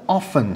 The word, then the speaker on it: often: خب واژه بعدی ما لغت often هست. often توی حالا بریتیش ها often تی رو هم تلفظ میکنن، امریکن ها میگن often.